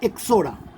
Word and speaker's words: Ixora: এক্সাম্পলে বলতে পারি এক্সোরা। এর স্পেলিংটা হবে IXORA। এই আইটা কিন্তু সাইলেন্ট থাকে, উচ্চারণটা হবে এক্সোরা। ঠিক আছে?